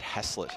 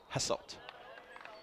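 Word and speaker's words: Hasselt: Sorry, I said hasslet. No, hasslet. Got to get that pronunciation correct.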